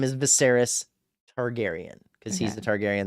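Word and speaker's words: Viserys: This king is Viseris. That's how you say his name here. I have it written down. That's how you spell it. Viseris. And his name is Viseris Targaryen.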